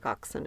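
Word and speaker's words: coxswain: he said well yeah it's like bsen and coxen and for some reason that word is just pronounced that way he says he thinks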